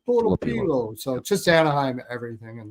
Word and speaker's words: Nikita Tolopilo: So, those aren't really all that horrible, but to the pronunciation guide. It's Nikita Tolopilo. That's how you say it. Nikita Tolopilo. Tolopilo.